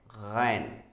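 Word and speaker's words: غين: And when there is dot, you'll have to say ghain, ghain.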